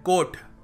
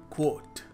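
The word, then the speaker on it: quote: है finally क्वट कोट और हम क्या कहते हैं कोट यह शानदार कोट है ये देखो इसको कोट है ये सो right way to pronounce it इज क्वट इस वीडियो का मेन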